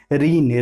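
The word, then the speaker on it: reign: इसी की तरह रीन। रीन का मतलब होता है शासन करना, इसमें भी जी साइलेंट होता है।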